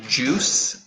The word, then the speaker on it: juice: Oh, remember for the pronunciation, we say juice and fruit. So the I is silent.